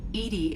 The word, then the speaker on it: EDI: are you named edie edie is the phonetic pronunciation of edi that is an acronym for enhanced defense intelligence okay where are you